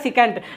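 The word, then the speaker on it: secant: ऐसे नाम बनता है सिकेंट। इसको बोला जाता है सिकेंट। क्या नाम बोला जाता है? सिकेंट।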